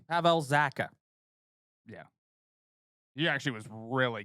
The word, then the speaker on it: Pavel Zacha: Pavel Zacha. Pavel Zacha.